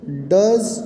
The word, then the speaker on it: does: Does rhymes with buzz.